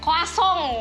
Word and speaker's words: croissant: Kalau di sini boleh kita ngomongnya croissant, tapi kalau kalian berkunjung ke sana jangan salah sebut. Gimana caranya? Koasong. Tuh. Ingat ya? Masih pakai emosi. Gini. Koasong.